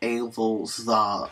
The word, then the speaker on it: Evolzar: So, Evolzar Dolkka has been or Evolzar, I should pronounce, because he's based off of Tsarist Russia.